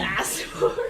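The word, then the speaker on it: Aasimar: I pronounce Asimar. I pronounce it Asimar.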